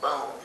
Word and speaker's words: Bond: So after he left his Aunt Louise, he came to Oklahoma, and his Uncle Bill Bond, they pronounced it in English, but it was called Bone in German.